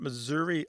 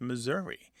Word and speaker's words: Missouri: happening with with Missouri it's possible that there's um that last syllable because it's not stressed it's unstressed it goes from either some value of a short or a long eye to becoming a schah because some missourians don't say Missouri e or Missour they say Missour more like the